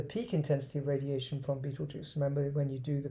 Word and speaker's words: Betelgeuse: That's how you say it. You don't say Betelgeuse, which I never knew how to pronounce it until I watched the YouTube video.